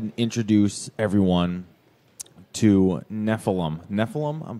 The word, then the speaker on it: Nephilim: Nephilim, I'm pronouncing that correct.